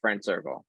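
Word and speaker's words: FRND CRCL: It's spelled FRND, no vowels. So it's no vowels, Friend Circle.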